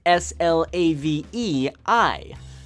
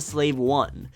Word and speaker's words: Slave I: is troubling some fans it's written out as SL a ve eye this is split people apart something that should